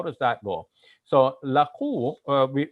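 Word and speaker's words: لقوا: So laqu, because it has the bar over the U, we want to make that a long U sound, laqu.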